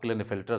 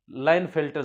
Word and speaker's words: Klinefelter: Turner syndrome और अब क्लिन फिल्टर syndrome क्लिन फिल्टर syndrome को बहुत से लोग लाइन फिल्टर सिंड्रोम भी कहते हैं के साइलेंट करते हैं तो आपको जैसा सुविधाजनक लगे आप बोल सकते हैं ठीक है तो दिस